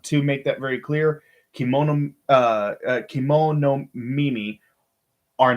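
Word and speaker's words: kemonomimi: Uh, Kimono Mimi. There we go. That's how you say it. Kimono Mimi.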